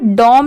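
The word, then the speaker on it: dom: और डी ओ एम डम यहां पर डॉम नहीं पढ़ेंगे किंग डॉम नहीं इसकी साउंड डम की आएगी तो इन दोनों को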